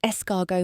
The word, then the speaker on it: escargot: "It's escargot, Mum. The T is silent.